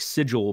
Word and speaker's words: Sigil: just born in like sigle and I know it's like sigil but they pronounce it wrong in like the official wizard stuff but you're probably just